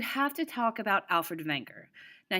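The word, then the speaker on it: Wegener: to talk about alfred wenger now he's actually german so that's how you pronounce his name he lived from 1880 to 1930.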